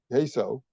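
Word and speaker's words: CAISO: California independent system operator queso that's the way I pronounce it which oversees the grid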